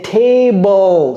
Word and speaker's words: table: très souvent c'estit t parce que en français on prononce ça littéralement B l e n'est-ce pas table mais en anglais c'est table table c'est comme si le E venait avant le L en fait ce e